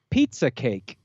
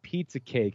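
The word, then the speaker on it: Pieza kake: Pizza cake is spelled P-I-E-Z-A space K-A-K-E.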